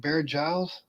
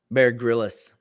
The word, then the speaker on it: Bear Grylls: I know with Bear Giles. Bear Grylls. Oh, okay. Yep. Yeah, I was for some reason I was always pronouncing Bear Giles.